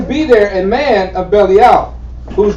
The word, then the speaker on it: Belial: I like to call him Belial. Belial is the right pronunciation.